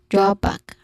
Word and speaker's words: drawback: Drawback has a stressed syllable on the first, drawback is a buzzing sound still.